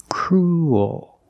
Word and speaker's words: cruel: but it's not uh it's not an extra vowel. It's one vowel. Cruel. Your mouth opens and you make an extra little sound. Cruel. Like pool and cool.